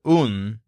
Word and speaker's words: un: The word un means a or a, as in a male sheep. It sounds kind of like the English word one, but it's pronounced un. So you say un sheep.